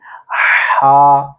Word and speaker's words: ح: ادا کرنے کی کوشش کرنی ہے، یہاں سے ہا ہا۔ پہلے آپ نے سٹارٹ سے ہلکی سی